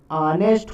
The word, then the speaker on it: honest: यहाँ पर क्या है कि एच का जो है प्रोनाउंसिएशन आ हो रहा है, यानी ऑनेस्ट हो रहा है।